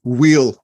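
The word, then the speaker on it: weal: be delighted to and well done on the pronunciation we wheel um and spelling that out for everybody for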